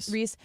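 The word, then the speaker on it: Rece: Reese.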